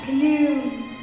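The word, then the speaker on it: Khnum: go to sleep at once I am canoon that's k h n u n the H is is silent I know the River Nile when it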